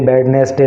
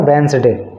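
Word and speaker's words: Wednesday: Thursday ऐसे बोलते हैं तो यह बडनेस डे नहीं होता है यह इसका प्रोनंसिएशन होता है वेनस डे ठीक है तो डी को यहां पर आप साइलेंट करके बोलना है इसको वेनसडे तो वेनसडे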